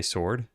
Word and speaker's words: sword: ago that started with W in the word sword is silent. However, I felt it's not completely silent. Not silent in the same way the K and knife is silent. Do you agree? I think it's silent. Just pronounce that word. Would you say sword? because then do you pronounce it the same as this? If so, that's proof that it's silent.